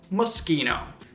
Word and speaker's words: Moschino: One more fashion brand for today, Moschino. In Italian, the combination of letters S-C-H-I are actually pronounced ski. So, this Italian brand should sound Moschino.